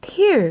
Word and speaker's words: tear: 그리고 뒤에 있는 단어 tear 같은 경우는 발음을 주의하셔야 됩니다. 여러분들 요거 뭐랑 같아요? tear, 눈물이랑 똑같이 생겼어요. 그렇죠? 자, 근데 tear 하면 눈물이 되지만 tear로 발음을 하시면 이제 뜯다, 찢다 이런 뜻이 됩니다.